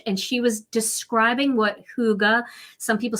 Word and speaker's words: hygge: It's also borrowed from the Norwegian language, and it's called Hygge. And there's the right way to pronounce it.